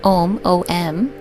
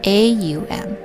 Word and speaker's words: Om: and for oming we we might know it as M oh M but we also there's another pronunciation auu M and I'm going to